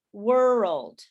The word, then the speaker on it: world: say that uh if the way that you can do this is to divide it into two syllables so it sounds like world world world so now you have